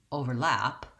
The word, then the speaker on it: overlap: overlap and the verb overlap what you can hear that is different in the two is where the stress happens so in the noun